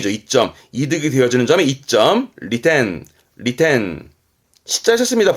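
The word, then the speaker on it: 利点: 점 이점 이죠 이점 이득이 되어지는 점에 이점 리텐 리텐 셨습니다 볼 자 어떠한 시점 내가 보는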